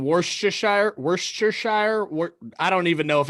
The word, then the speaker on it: Worcestershire: Mine's saying Worcestershire.